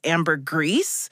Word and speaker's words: ambergris: honestly i had to look up how to pronounce that last one ambergris but i guess it in the united kingdom it's amber grease and all those flavors are from a way